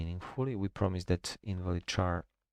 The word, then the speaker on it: char: char because like ch I know it stands for character so it should be maybe car but simply because of